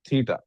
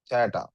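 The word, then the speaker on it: theta: इसको क्या प्रोनाउंस करते हैं? थटा। कुछ लोग कुछ अंग्रेजी एक्शन वाले इसको थटा भी कहते हैं। मैं थीटा कह रहा हूं।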